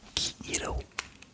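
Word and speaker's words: kiiro: Le jaune c'est Kiro.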